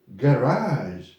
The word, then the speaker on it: garage: words in english and these words are generally from french they you know they